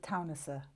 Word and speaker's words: Teunissen: Well, you actually pronounce it Teunissen, but one of the students was calling us Teunissen, and I quite like that, so Teunissen from now on.